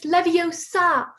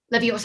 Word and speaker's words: Leviosa: someone's eye out besides you're saying it wrong it's leviosa not love yours ah well pardon me